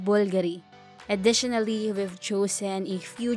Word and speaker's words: Bulgari: this Italian company is included on the list Bulgaria itself has nothing to do with it it should be pronounced Bulgari number 8 Cartier you're all familiar